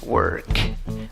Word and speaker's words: work: Aunque se escribe con una O, la pronunciación no es con una O, es con una schwa, con aquella vocal que no es ni A, ni E, ni O. Neutra.